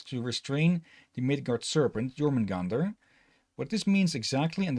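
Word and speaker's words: Jörmungandr: right in this case in this spelling it's pronounced German Gander okay let's see the last one in bhagavati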